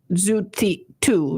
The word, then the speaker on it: Szutu: And for you, and it is pronounced Zutu, right? Yes. Zutu, and it's spelled Szutu.